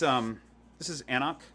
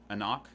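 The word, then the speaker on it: anCnoc: So this is Anok. Anok. You don't pronounce that C that's really big.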